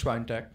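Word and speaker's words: Świątek: But yeah, my pick for it is Swiatek. That's how you pronounce it. It's Swiatek.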